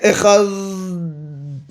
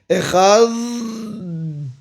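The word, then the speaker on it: אחד: The dalet has to die out. You cannot pronounce the dalet.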